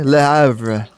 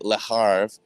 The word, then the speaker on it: Le Havre: You want to try and pronounce that one for me? Le Havre.